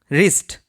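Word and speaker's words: wrist: Next word রয়েছে রিস্ট। এখানে W silent.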